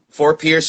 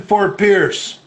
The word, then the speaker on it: Fort Pierce: Fort Pierce is pronounced four beers.